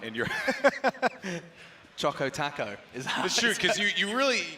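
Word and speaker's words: chocoTaco: it wrong a guy do taco doesn't rhyme we're talking oh oh yes choco choco taco oh it's supposed to rhyme yeah it's got a flow to it that you're not quite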